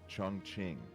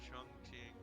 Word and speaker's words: Chongqing: I said that boys' trip to I think it's pronounced Chongqing is what it's pronounced.